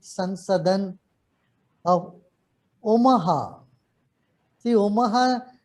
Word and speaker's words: Omaha: See, Omaha, the name of the city rhymes with Om, Omaha in Nebraska.